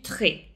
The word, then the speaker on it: tri: J'ai fait du tri. attention, il y a une petite erreur de prononciation. Donc, il faut faire attention au R en français.